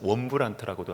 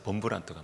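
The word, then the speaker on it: Wurmbrand: 리차드 원브란트라고도 하지만어 원래 발음은 리차드 범브란트가 맞는 거 같아요.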